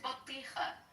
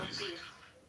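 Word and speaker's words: بطيخ: It's batija or batiq. You're not saying it correctly. Damn. Bateekh.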